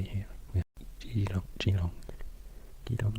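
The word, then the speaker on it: Geelong: Gilong, not Gilong.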